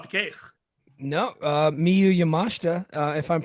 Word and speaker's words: Yamashita: got it wrong probably I the eye a lot of time is silent yes I lived in Japan for two years so a lot of times the the vowels are silent uh in when they're placed certain ways but um yeah Miu